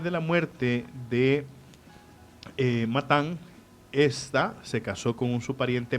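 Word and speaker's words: Estha: Se casó con una mujer llamada Esta. E-S-T-H-A, no esta. Aclarando. O sea, se pronuncia gesta. No, No. porque no lleva H.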